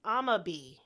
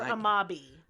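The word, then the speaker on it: Amabie: So the first one we're going to talk about is amabi. Okay, are we pronouncing that right? Do you know? I am. Okay, great. Or amabi.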